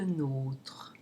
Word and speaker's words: nôtre: Votre tigre, nommé Prince Bertrand, ronronne rarement avec le nôtre. Notice that nôTRe has a closed O in a closed syllable, which is a rare occurrence.